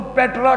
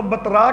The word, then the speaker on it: پیٹرا: شہر کے کھنڈرات ہیں جس کو پیٹرا کہا جاتا ہے. عرب لوگ اس کو بترا کہتے ہیں. اور پیٹرا اس کا تلفظ جو ہے وہ کیا جاتا ہے، اور اس شہر کا